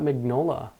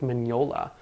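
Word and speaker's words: Mignola: verse I've been corrected uh apparently it's not magnola Mike magnola it's Mike Manola uh he posted on his well his wife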